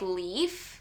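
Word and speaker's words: Leif: Because we just met, I think you say his name like Leaf, like Keith with an L, but there's definitely something going on between him and Clark.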